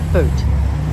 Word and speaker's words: Boot: do a boat show it's spelled b-o-o-t but boat okay on our way